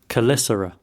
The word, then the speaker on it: Caelesti: Yeah, I've been pronouncing Caelesti wrong up until now. Caelesti.